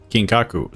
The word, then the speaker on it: Kinkaku: And then I saw Kinkaku. Kinkaku. So I was kind of pronouncing it right.